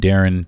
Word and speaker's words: Deron: I am Darren on Facebook and Darren on Instagram d r o n